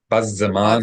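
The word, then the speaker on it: בזמן: And classical Hebrew, we would pronounce this as bazza, bazza, bazzaman, Bazeh. bazzaman. But in modern Hebrew, people would often say bazman. We shorten things just like they do in English.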